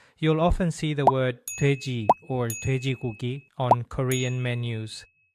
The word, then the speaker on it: 돼지: often see the word 돼지 or 돼지고기 on Korean menus. The first letter in 돼지 is this one, and its sound is similar to the English D or T, but Korean also has